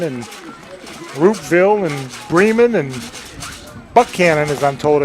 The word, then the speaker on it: Buchanan: Had to go through Carrollton and Roopville and Bremen and Buchanan, as I'm told it's pronounced, not Buchanan.